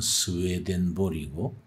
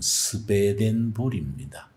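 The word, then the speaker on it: Swedenborg: 이제 세 번째 책은 스웨덴보리, 영어식 발음은 스웨덴보리고 독일식 발음은 스베덴보리입니다.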